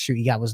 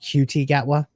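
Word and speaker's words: Ncuti Gatwa: Um, I know Dis Brew is still covering it, although he can't pronounce Shuty Gatwa's name. Um, or or he's doing it as a joke, calling QT Gatwa.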